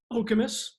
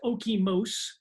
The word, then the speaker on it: Okemos: Charlotte, Okemos, which originally I pronounced Okemos.